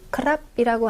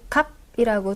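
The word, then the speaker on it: ครับ: 대화를 할 때 태국인들이 크랍이라고 안 하고 갑이라고 줄여서 말하는 경우도 많이 보실 거예요. 어 생활에서 이렇게 발음을 할 때 갑 이렇게 둘 다 발음을 해도 괜찮다는 거. 하지만 표준 발음은 크랍이 맞다는 부분 한번 짚어 드리고요.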